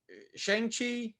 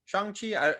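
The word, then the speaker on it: Shang-Chi: i do want uh shang chi chang chi they pronounce it kind of both ways on the show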